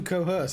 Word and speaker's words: coerce: Coerce rhymes with hearse.